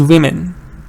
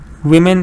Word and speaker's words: women: need a valley has the first one is uh uh woman it's a schwa one woman the second one is women women is a short e teacher how do you